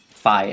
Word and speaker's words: Fi: I always pronounce her Phi because that's how I grew up with. Because in the German version, she is pronounced Phi as well, and so I pronounce the I like an actual I, and not like an E.